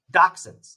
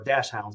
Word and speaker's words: dachshund: Dachshunds, little doggies. It's a German word, or dash hounds, depending on how you want to pronounce it.